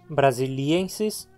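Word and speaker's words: brasiliensis: filão e agora aqui braziliensis braziliensis se separaram mas as sílabas novamente a penúltima sílaba terminar em consoante portanto a palavra paroxítona Brasiliense é mais uma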